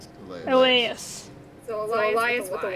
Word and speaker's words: Elyas: But it's Elias. Elias. So Elias with a Y. It's how do you spell it?